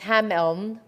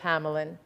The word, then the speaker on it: Hameln: of hamelin in germany it's pronounced hameln we speak about it as hamelin it's a story that